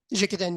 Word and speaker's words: Jikiden: shop, and that's when you discovered how's it pronounced, Jikiden? Jikiden, yes.